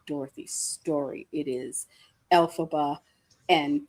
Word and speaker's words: Elphaba: It is Elphaba and Galinda.